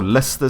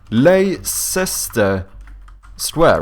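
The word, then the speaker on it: Leicester Square: with like ler square like do you not do you not know how to spell Lester Square in in London like you assume it would be like Lester like this or some no it's l sest square right yeah L sister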